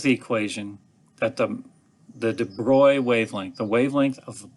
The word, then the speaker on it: de Broglie: butcher de broglie's name he's french so it's de bruy or however the french might pronounce that i say de broglie which a lot of people do but he came along